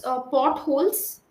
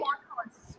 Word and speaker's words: potholes: Can you pronounce potholes? Just It's okay. I I'll pronounce it for you. Yeah. Can you say it? Potholes. Potholes. No, it's not halls. It's holes.